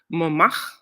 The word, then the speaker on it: Montmartre: We walked around one day in Paris in a town called Montmartre. I think is how you say it. Montmartre. I noticed the French, they like roll their R's. So it's Montmartre.